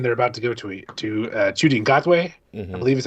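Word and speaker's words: Ncuti Gatwa: The current Doctor is David Tennant again, but then they're about to go to Chudi Ngotwe, I believe is how you pronounce his name, and he's going to be fantastic.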